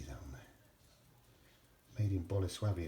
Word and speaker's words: Bolesławiec: you can see that on there made in Bola swabby it's that's how you pronounce that correctly it's no no it's not bollie's web Yik let's see it's bonus fabians turn the lights